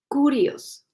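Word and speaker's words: κύριος: sea las pronunciaciones pero creo que se pronuncia curiosos kurios y Qué significa aquí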